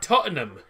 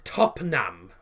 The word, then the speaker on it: Tottenham: oh you're on about tottenham tottenham no i don't um not a chance i was going to say top nam well that's not what it's spelled it's tottenham it's uh t o